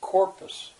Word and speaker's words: corpus: there's two syllables there which one is stressed and i'd ask the class there are some kids that are they're like me it's just so obvious it's not corpus it's corpus uh corpus uh how